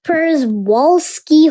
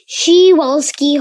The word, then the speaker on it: Przewalski: P is for Przewalski horse. Another pronunciation for this can be Przewalski horse.